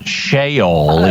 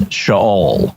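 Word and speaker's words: Sheol: you if you didn't it is not shol it's shaol good well thank you I learned uh if I lie down in shaol you are there too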